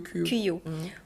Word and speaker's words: Kuyo: J'espère que je prononce bien. C'est Kuyo? Oui, c'est Kuyo. Kuyo.